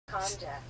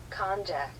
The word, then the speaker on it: konjac: How do you pronounce those? Konjac. That's English. Konjac.